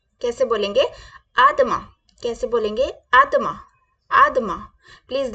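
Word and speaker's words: à demain: is Siya tomorrow see tomorrow को कैसे बोलेंगे आदमा कैसे बोलेंगे आदमा कैसे बोलेंगे आदमा आदमा प्लीज रिपीट विद मी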